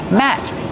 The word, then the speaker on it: mat: Use the short a sound like black cat. Matt. This is a placemat. It goes on your dining room table. And what about the letter T? The letter T at the end of the word Matt is a stop T. We don't say Matt. We stop the air. We don't release the sound.